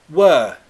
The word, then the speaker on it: were: Be Brave says, Ali, can you pronounce we were there? We were there. We were there. Contract were to a weak form, schwa.